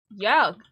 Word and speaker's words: Jörg: the one with the U umlaut would be pronounced Jurg, and he is pronounced Jörg.